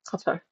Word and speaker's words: Qatar: I have heard four different pronunciations for that country. The one that I'm going with is from other Muslims and other comrades who live in the in West Asia. Uh, one in Iraq. Uh, one in Syria or Lebanon. Lebanon. Qatar. And one's from here in the UK is cutter.